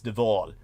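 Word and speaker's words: de Waal: Uh, surname spelled W A A L, but it's pronounced in the typical Dutch fashion as Dval.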